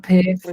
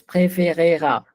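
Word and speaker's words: préférera: It's not prefera. Preferire. It's preferera. Okay, Il preferera.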